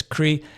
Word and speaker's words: creative: Now, I'm not sure how to best show you the stress because the syllables, it's you can see it here. It's creative. It's on the a.